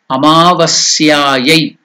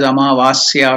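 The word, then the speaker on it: अमावास्यायै: So you should not pronounce wrongly as Amavasya or something like that.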